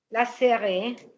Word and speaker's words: laisserait: A-I-E-N-T se prononce tout simplement è. Ci abbiamo un pacco di lettere per dire è. OK? Lasserai.